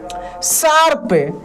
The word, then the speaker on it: श्राप: ध्यान दीजिए, दोनों का प्रोनाउंसिएशन कीजिएगा तो आपको इसमें थोड़ा सा अंतर लगेगा। शार्प, श्राप। देखिए शार्प, श्राप, यानी ये जो प के ऊपर है रेफ की मात्रा है।